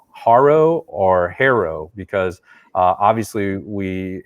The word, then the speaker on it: HARO: So I say that knowing that Peter Shankman, the founder of HARO, pronounces it HARO, but quite frankly, most of our inquiries come